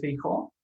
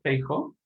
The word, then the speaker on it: Feijóo: Pues bien, la importancia de Feijóo, lo siento, Feijóo, así es como se pronuncia, la clave de su importancia se centra en la obra que escribió.